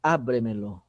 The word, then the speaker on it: ábremelo: Pode ser quinta sílaba tônica, tá? Por exemplo, a palavra ábremelo.